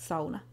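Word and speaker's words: sauna: Then of course the sona is mentioned which in Finnish is pronounced sona.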